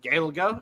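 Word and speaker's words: Gaeilge: Gaelga is the actual language name. The way All right. that the English pronounced it was they would say that it was Gaelic.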